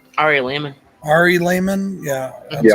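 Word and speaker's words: Ari Lehman: this guy um what's his name Ari Layman Ari Layman yeah that's how you say it uh he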